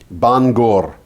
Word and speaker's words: Bangor: to be a single letter and it's always pronounced ng. Mm-hmm. But in this particular word, it's NG, nga, Bangor.